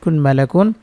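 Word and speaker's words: ملك: জবর কাফ দুই পেশ মালাকুন এখানে চিহ্ন আছে আমরা এখানে করবো লাম সাকিন হবে উচ্চারণ হবে মালাক কাফটা সাকিন করে থামতে হবে একসাথে পড়ে শোনাচ্ছি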